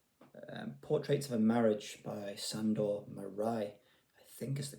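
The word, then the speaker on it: Sándor Márai: of all time, Portraits of a Marriage by Sandor Marai, I think is the correct pronunciation.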